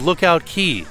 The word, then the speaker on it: Lookout Cay: On this fine day with the aqua colored sea, welcome to the Bohemian paradise called Lookout Cay.